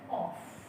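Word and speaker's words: off: जैसे बोलते ऑफ लेकिन ओ एफ का जो प्रोनंसिएशन अपना वो होता ऑफ ठीक है और ओ डबल एफ का प्रोनंसिएशन होता है ऑफ ये इंग्लिश लज अब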